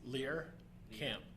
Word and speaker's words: Lehrkamp: So I've heard Lehrkamp, and Lehrkamp. Is there one that we can lock in on? Any chance? Lehrkamp.